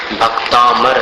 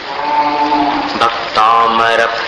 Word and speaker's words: भक्तामर: की जय जय भक्तांबर स्त्रोत्र भक्तांबर या भक्तांबर ये दोनों अशुद्ध उच्चारण क्या पड़ रहे हैं आप लोग भक्तांबर ऐसा नहीं है और भक्तांबर भी नहीं है भक्तांबर भक्त भक्तामर प्रणित मौली मण प्रणाम कंद